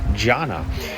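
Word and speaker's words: dhyāna: Remember, coming from India, the Sanskrit word, jhana. I believe it's spelled D-H-Y-A-N-A, jhana, which means meditation or contemplation.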